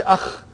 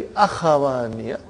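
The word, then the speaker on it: أخوان: See, we cannot say akh. It has to be Akhawani. There is a fatah.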